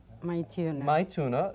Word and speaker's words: Maithuna: Maituna.